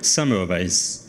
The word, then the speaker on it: Semmelweis: Semmelweis.